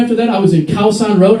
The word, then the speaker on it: Khao San Road: So, I went to Khao San Road, and many people mispronounce it. They say Koh San Road. Koh San Road. Thank you very much, Leonardo DiCaprio in the fucking beach. Don't listen to anything that guy says. It's Khao San Road.